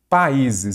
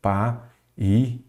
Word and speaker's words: países: A acentuação está corretamente explicada em países, segunda vogal tônica de hiato. Aí nós já vamos aqui, ó, países.